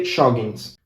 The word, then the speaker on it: jogging: We also have the same word in Argentina, and we say joggings. Jogging. Jogging with one N. We don't really pronounce the G because it's too hard for us to pronounce it.